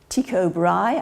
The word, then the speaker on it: Tycho Brahe: very bright very impressive and the well-known astronomer Tycho Brahe I believe is the way you pronounce that he compared his observations and showed